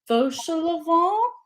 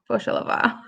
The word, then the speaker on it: Fauchelevent: And then he meets Fauchelevent is how I'm gonna say his name, I I think. think that's how the audiobook said it too. Fauchelevent, I think. Fauchelevent.